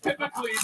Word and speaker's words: Hippocleides: the man who was about to win, Hippocleides, Hippocles, that's how it's pronounced.